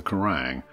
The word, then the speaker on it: Quiraing: the spires of the karang pronounced like the metal music channel and magazine as well as the